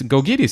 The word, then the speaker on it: Gkogkidis: And then goes there and says, it's Gkogkidis. And you say, good Lord. The letters don't relate to what you're saying, but fine.